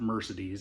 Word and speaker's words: Mercedes: It's spelled like Mercedes, but she pronounce it pronounces it Mercedes. It was her great-g grandandmother's name. It's the Spanish pronunciation.